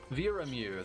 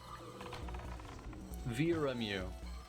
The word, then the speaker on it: Viramu: Viramu. That's how it's pronounced. Viramu.